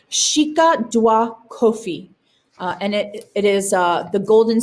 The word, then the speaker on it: Sika Dwa Kofi: It's pronounced Sika Dwa Kofi, and it is the golden stool.